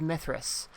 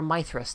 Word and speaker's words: Mithras: PST while we do a one-shot of Mithras. Or Mithras, depending on how you want to pronounce it.